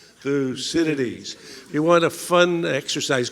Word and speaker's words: Thucydides: big thinker today and should know how to pronounce this name so on three we're going to do it in unison one two three fuu Citadis Citadis one more time through Citadis you want a fun